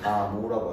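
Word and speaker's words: Gamow: 감옥프 감옥프. 그렇지? 그래 다 배웠잖아. 감옥 또는 프 그냥 감라고 하기도 해요.이 사람이 저기 그 소련생만 그래 가지고서 뒤에 마지막 발음이 FF더라고. 그래서 이제 미국식으로 하면 그냥 가모라고 하 거기식으로 하면 그냥 가모하고 끝내고 그 우리가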